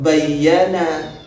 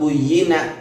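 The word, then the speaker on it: بُيِّنَ: Terus illa waqad buyyina, antum ini membaca waqad bayyana. Ini gimana bacanya? Kalau dibaca waqad bayyana, siapa yang menjelaskan? Itu pakai wakilnya, pakai bina majhul. Rasulullah mengatakan waqad buyyina, bukan waqad bayyana.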